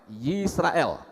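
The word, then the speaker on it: ישראל: Kemudian kata terakhir dalam kitab Torah adalah Yisrael, yaitu lamet, ya. Yod, shin, res, alef, lamet. Yisrael.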